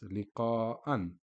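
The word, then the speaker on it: لقاءً: So it's pronounced as liqa'an. Obviously with one fatha, it would be liqa'a. With double fatha, it's liqa'an.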